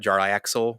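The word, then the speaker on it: Jarlaxle: My favorite character in the Dritz series is actually Jar Lasley. Later in life, now people apparently try to call it Jar Axel, but I can't see it in my head.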